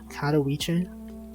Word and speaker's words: Katowice: I pronounced it right. I knew it. Katowice.